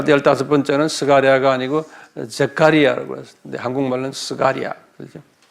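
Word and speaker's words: Zechariah: 제가 이거다 영어로 적어놔서 내가 한국말 발음이 좀 힘들어요. 이 영어로 스가리아가 15번째는 스가리아가 아니고 제카리아라고 그랬어요.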